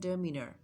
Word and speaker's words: demeanour: अच्छा, ये जो वर्ड यहाँ पे DEMEANOUR इसका राइट प्रोनाउंसिएशन है demeanor.